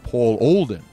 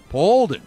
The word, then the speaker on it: Olden: bold and he's like no you're mispronouncing it's paul olden paulden he's like say my